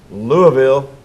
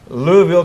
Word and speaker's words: Louisville: Pastor Ben, who is also a pastor from Louisville. Did I say it right? Close enough. Louisville, Kentucky.